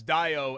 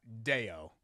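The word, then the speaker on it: Dayo: But it's Dio and not Deo, as Correct. it's spelled.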